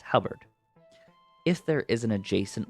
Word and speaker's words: halberd: I never know how to pronounce that. It's halberd.